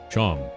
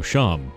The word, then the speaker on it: Seam: better to do about yourself the name seam pronounced Cham oh sham okay and this is my little shop over